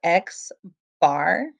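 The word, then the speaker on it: x̄: we read that as we don't say this symbol right we call it x bar x bar and it's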